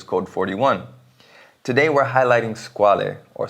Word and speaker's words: Squale: would in Italian however the E is actually meant to be silent if you pronounce it in French the brand itself has